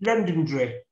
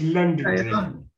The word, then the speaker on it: Londonderry: And then London London Londonderry, you know, the Marquess of Londonderry is known as known as the Marquess of London Londonderry. It's pronounced Londonderry.